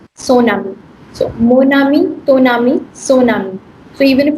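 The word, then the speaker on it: mon ami: singular, which makes it, please repeat with me, monami. Monani. Yes. Monami. Then next is Tonami. Toani. tonami. Tonami. No ka sound dij please. Tonami, please repeat. Tonami. Yes. And what is this one? Tonami. Sonami. So monami, tonami, sonami.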